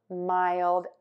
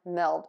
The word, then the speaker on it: mild: So a lot of people might think we pronounce these words as willed, chilled, and milled, but we don't.